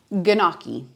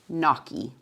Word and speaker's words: gnocchi: Gnocchi, gnocchi, gnocchi, gnocchi.